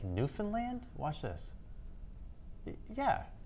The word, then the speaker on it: Newfoundland: And It says a local legend in Newfoundland, it's actually Newfoundland I should be saying it correctly, claims the Mayflower stopped